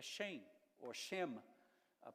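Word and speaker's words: שם: No hebraico, a palavra nome é Shem, ou Shem, a pronúncia hebraica, que significa nome.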